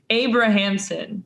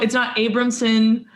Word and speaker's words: Abrahamson: It's Abrahamson. So it's like you pronounce all the syllables. It's not Abramson.